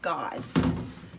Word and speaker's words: gods: this up God's what sound do you hear at the end of God's God's you hear a Z sound don't you so we could put a Z there but we have learned that that sound at the end is really a what an so I'm gonna put an s but it is a Z so gods okay word what